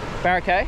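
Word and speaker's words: Boracay: Barakai.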